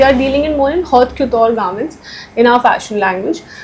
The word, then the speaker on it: haute couture: So they are dealing in more in haute couture garments in our fashion language, where it is made. The couture is pronounced as haute couture.